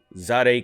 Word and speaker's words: Zadeh: guys on the whole zod a kicks i just found out that's how you say it zade kicks uh fiasco